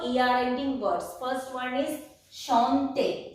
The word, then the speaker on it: chanter: First one is chanter. C-H-A-N-T-E-R. Chanter. Chanter means to sing. I have told you earlier that the word CH is pronounced as sh in French.